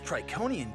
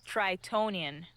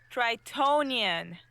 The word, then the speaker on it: Tritonian: This Triconian jungle is hot. Tritonian. What? It's pronounced Tritonian. That's what I said. Triconian. Tritonian. With a T in the middle.